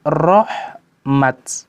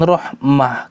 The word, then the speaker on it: رحمت: Kalau berhenti, maka berhentinya rahmat, bukan rahmah.